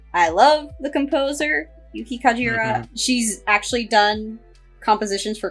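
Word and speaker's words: Kajiura: Yeah, I also love Yuki Kajira.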